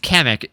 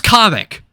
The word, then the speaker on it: Kamek: Side rant here, because when they announced Kamek and is going to be playable, they pronounced his name as Comic.